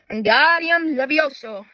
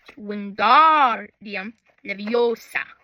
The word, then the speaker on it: Wingardium Leviosa: Levioso, he shouted, waving his warm his long arms like a windmill. You're saying it wrong, Harry heard her snapped. Wingardium leviosa. Make the guard nice and long.